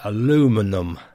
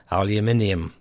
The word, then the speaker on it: aluminium: Of course, the spellings are different, and the American way is aluminum. In the UK, we say aluminium.